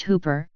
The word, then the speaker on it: Whooper: the dung Garvin Hooper pronounced Hooper is a ghost story immortalized in a song